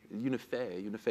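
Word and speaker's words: UNIFE: To his left is Philippe Citroën, who is the Director General of, is it Unify? Unify is the correct pronunciation, the European rail industry,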